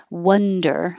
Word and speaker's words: wonder: spelling as well wonder think of it as one because that might help because one is easier than this weird spelling uh one but it's one wonder and the vowel is uh like up i wonder where i'll